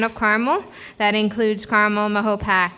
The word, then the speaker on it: Mahopac: Carmel that includes caramel Mahopac and Mahopac Falls that's the proper way to say it um leaving it at